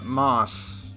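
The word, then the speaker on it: Maus: Yeah, I'm pretty sure it's pronounced like mouse, but I don't want to make you think it's spelled the same way as American.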